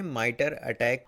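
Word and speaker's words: MITRE ATT&CK: दोस्तों क्या आप जानते हैं माइटर अटैक यानी MITRE माइटर और ATTM%CK इसको हम लोग प्रोनाउंसिएट करते हैं माइटर अटैक।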